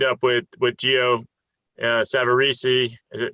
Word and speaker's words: Savarese: uh savarisi is it do i say savaris or savarisi well i hang out with the boxer lou savarese and you don't get his name wrong because they'll just hit you in the head so i always it's geo savarisi um correct him next